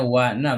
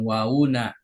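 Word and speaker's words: نا: Ayati mudof W na Perhatikan cara bacanya Wana bukan wauna wa na domirun muttasilun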